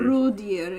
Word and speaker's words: rådjur: rådjur? Rådjur is Rådjur. deer. Okay. How do you spell that? It literally means raw animals. Why is the D silent? It just is.